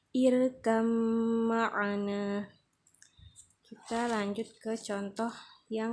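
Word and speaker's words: ارْكَبْ مَعَنَا: dimasukkan dan dites citkan irkam Marina Jadi kalau cara membacanya di Qalqalah kan salah ya nak misalnya irka berwarna ini salah Jadi yang benar irkam Marena kita lanjut ke contoh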